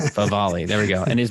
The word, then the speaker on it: Favale: Favale.